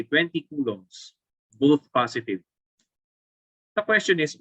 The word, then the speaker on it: coulombs: So ang pronunciation dito ay coulombs.